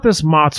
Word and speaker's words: Mott's: So you brought this Motts for us here, which rhymes with snots, which I'll play off on later tonight, I'm sure, because it is a ultra pureed product.